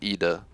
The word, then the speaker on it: Ida: depends where you're from in america we say ida apparently but what i've seen is some in the european languages use eda for how it's pronounced i'm pretty sure if you go back to its origins it should be eda maybe i'm wrong but